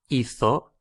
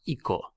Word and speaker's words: hizo: So he did, hizo. Just remember that when it's he, she, or it, Hizo is spelt with a Z, otherwise it would be pronounced Ico if it was I-C-O.